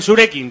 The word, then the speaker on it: Zurekin: Javier Lecona nos llama y nos dice que se dice Surekin, como ha dicho Coni.